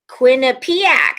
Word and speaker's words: Quinnipiac: this down so you guys nailed it um quinnipiac see i said it right cabber's direct 10